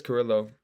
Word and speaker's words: Carrillo: He calls himself Carrillo. Spelled the same way as my name. Ko. Uh, but he says Carillo, I worked on his system.